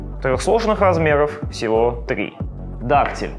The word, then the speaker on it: дактиль: Дактиль с ударением на первый слог, амфибрахий с ударением на второй слог и анапис с ударением на третий слог.